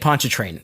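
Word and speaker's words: Pontchartrain: Lake Ponchet Train is the name. Is that how you say it?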